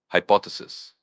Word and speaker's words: hypothesis: Hypothesis. H Y P O T H E S I S pronounced hypothesis with the stress on the second syllable.